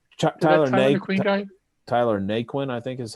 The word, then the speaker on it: Naquin: McQueen? Tyler McQueen guy? Tyler Naquin, I think is how it's pronounced.